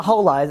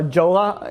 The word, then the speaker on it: Jolla: Jolla. But it's not silent. It's Spanish.